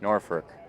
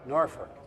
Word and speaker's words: Norfolk: I I helped run a TOC there one time and it's Ferk is how it's pronounced, Norfolk. Norfolk.